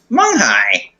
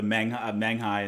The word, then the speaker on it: Menghai: Like I always pronounce the e, the Menghai instead of Munghai. It's just kind of looking at it. It's like that's not a U sound.